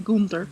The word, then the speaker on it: Gunter: You have to donate a certain number of items to the museum to get the key from Gunter. Ah. Yeah, or sorry, how I pronounce his name, Gunther.